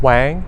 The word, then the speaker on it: Wang: how do you pronounce and spell your name my name is Dennis Wang that is de and and is w ang